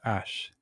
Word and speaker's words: H: the French for hacks H is pronounced ash in French this is already transported